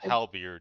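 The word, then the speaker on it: halberd: Halbert. Halbert. Am I saying that right? Halbert. Is that the correct way to pronounce it? Halbeard.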